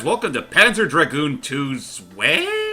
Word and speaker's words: Zwei: Hey guys, welcome to Panzer Dragoon II Zwei? Is that how you pronounce it? I don't care. It's Zwei. I'm trying to roll. There is no R, and yet I'm trying to roll it.